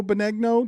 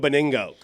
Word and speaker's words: Benigno: Joe Benigno? Did I pronounce it Joe right? Beningo.